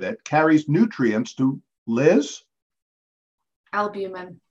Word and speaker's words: albumin: Albumin. Albumin rhymes with cumin.